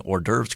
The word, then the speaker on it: hors d'oeuvres: I think some in our audience might be impressed that you're consistently pronouncing hors d'oeuvres correctly.